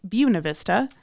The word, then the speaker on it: Buena Vista: Where we, I'm sorry, they pronounce it Buena Vista. You don't have to do that, I don't think. I'm not. It's Buena Vista.